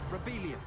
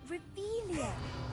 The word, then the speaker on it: Revelio: Rebellious. Saying it wrong. Ugh, Revelia. Much better.